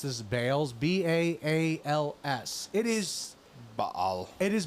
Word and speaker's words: Baal: Commandments of the Lord and Then followed after Bales now I want to pause I'm going to pronounce this Bales b a a LS it is Bal it is Bal that is